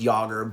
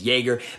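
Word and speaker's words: Yager: years back i'm like please have it be pronounced yogurt but it is not it is jaeger but he's still a pretty fantastic player he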